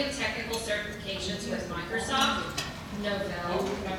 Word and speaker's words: Novell: holds a variety of technical certifications with Microsoft, Novell, did I pronounce that right?